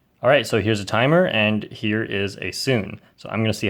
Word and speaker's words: Sune: this OLL case is called sune or more correctly pronounced soo-nay But please just call